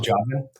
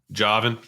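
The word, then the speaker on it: Jauvin: Joven? Joven. Or the real French way is Joven.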